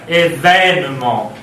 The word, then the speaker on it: événement: c'est un « ouvert, événement. Événement. Et alors il sera marqué avec accent grave. Il ne s'agit plus de considérer deux accents aigus, mais événement. Donc on change aussi de prononciation.